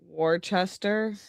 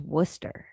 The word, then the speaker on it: Worcester: Warchester. Yeah, it's pronounced Worcester.